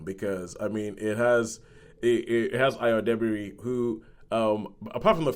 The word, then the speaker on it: Ayo: And everybody pronounces her name wrong. They keep calling her Ayo. It's Ayo.